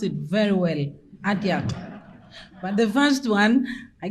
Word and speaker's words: Atiak: He pronounced it very well, Atiak.